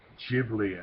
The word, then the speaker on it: Ghibli: yeah I love Studio Ghibli I guess they call himself now I used to just call it give me because I didn't ever see it pronounced until Disney bought it